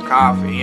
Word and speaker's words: Ko-fi: a new page on koh phi or coffee as they like to pronounce it where you can pretty